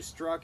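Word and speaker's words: Strzok: It's pronounced Struck, but it looks funny. Yes. Okay, so Struck and I don't know who the other agent is, but Lisa Page.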